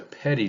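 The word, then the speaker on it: petit: and by the way this jury is a is a petty jury and that's spelled p-e-t-i-t another thing that you're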